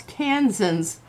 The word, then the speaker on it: Kansan: I like both, but us Kansans like to do the draw. Oh, and Ketra. It's like Texan. That makes sense. It's Kansan. I thought it was going to be more like Eastern European kind of thing.